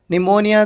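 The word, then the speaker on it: pneumonia: निमोनिया का P silent हो जा रहा, आईलाइन का एस साइलेंट हो जा रहा, नॉट का के साइलेंट हो जा रहा।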